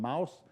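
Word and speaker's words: Mauss: france close to germany so you pronounce him mouse published a book about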